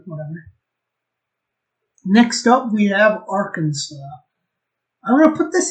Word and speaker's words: Arkansas: next up we have arkansas i'm going to put this indeed here just because there's a kansas and this isn't pronounced kansas and that's kind of cringe